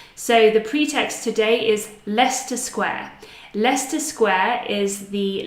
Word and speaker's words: Leicester: So Leicester Square, we can transcribe like this: Leicester, Leicester Square.